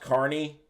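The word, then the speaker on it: Fort Kearny: Dews you have Vapes it's pronounced Carney Fort Carney well okay I think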